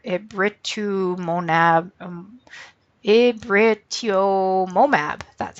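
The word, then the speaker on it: rituximab: this name here it writ to Mon AB it writ yomo map that's how you say it so that would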